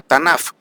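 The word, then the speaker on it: תנ״ך: En hebreo entonces hay un acróstico que se pronuncia Tanaf.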